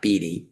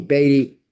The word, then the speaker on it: Batty: And by the way she pronounced it Batty not bey as an FYI for everybody.